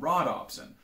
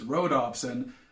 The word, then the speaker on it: rhodopsin: called photopsins whereas rods have an option called rod opsin which makes a hell of a lot of sense until i tell you that i both misspelled and mispronounced that it's not rod ops and it's rhodopsin named after the greek word for rose and